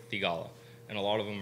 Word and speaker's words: Theegala: name like really crisply and right so the pronunciation is sahih tigalla and a lot of them are saying saheeth